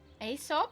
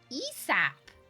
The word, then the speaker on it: Aesop: Aesop. Didn't even why wondering why the A is pronounced as an E.